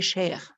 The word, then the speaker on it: cher: Mais il y a ici les 4 formes des chers, masculin, singulier, féminin, singulier, masculin pluriel et féminin pluriel. Cher, cher, cher et cher. C'est la même prononciation, mais ça dépend de la personne qui je parle.